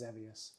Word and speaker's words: Xevious: They had a different pronunciation in Japanese. But we know it as Zevious.